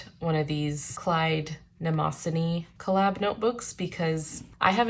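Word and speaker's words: Mnemosyne: I realized I had been pronouncing this brand wrong this whole time. I thought it was Memozine. It's actually named after a Greek or Roman god. Nemosini is how you pronounce it, I believe.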